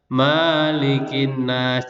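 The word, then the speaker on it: ملك الناس: Diingat mim fathah ini membacanya tidak boleh panjang. Diingat ya, kadang kebanyakan anak-anak itu kalau membaca bersama-sama itu mimnya dibaca panjang. Malikin nas, tidak boleh membacanya pendek.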